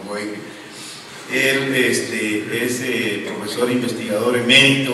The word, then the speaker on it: Boege: En algún momento le pregunté, oye, ¿cómo se pronuncia tu apellido? Dice, ¿de verdad quieres saber? Me dijo Eckhart. Me dice, pues Boege. Entonces, pues ni modo, Boege.